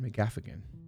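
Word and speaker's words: McGaffigan: pretty cool matt's andy mcgafin mcgaffin and gaff again mcgaff again pronounce all the syllables there swap all right ricky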